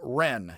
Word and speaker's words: ren: bit but reciprocity compassion love is something like ren it was spelled actually confusingly in the old wade guiles j-e-n and pronounce it like an r y and now